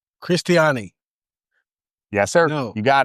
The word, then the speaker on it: Cristiani: Cristiani.